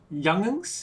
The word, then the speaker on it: youngins: we call children youngins youngins yeah youngins how do you spell that young young ing but then drop the jeep oh youngans group of